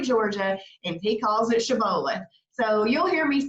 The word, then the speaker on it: Shibboleth: So it's really pronounced Shibboleth.